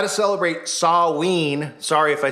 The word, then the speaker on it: Samhain: Sorry if I say Sam Hain and people go, it's Samhain. I heard it in Halloween 2, if anyone has ever seen it, and Loomis says Sam Hain, so that's what I thought it was.